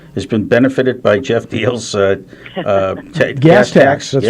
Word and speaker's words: Diehl: If people are able to take this down or want to go to the website right away, it's Deal for Senate, which is spelled DIEHL, and then FOR, not the number, but FOR, Senate.